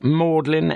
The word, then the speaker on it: Magdalen: Everyone, nearly everyone knows that this is pronounced Mlin, M A U D L I N, Street, as if it were a sentimental, tearful sort of street.